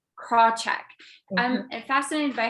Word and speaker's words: Krawcheck: name crenshaw sally crenshaw is that how it's pronounced do you know sally krawcheck craw check i'm fascinated by how when she did that